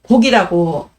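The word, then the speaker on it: 告: 농부가 내게 봄이 왔다고 고하니, 이 고자는요, 말하다는 거에는 고자지만 말해서 허락을 받을 때는 곡이라고 읽습니다. 그래서 여기서 농부는요, 아마도 도연명에 땅을 붙이는 사람이 아닐까 싶어요.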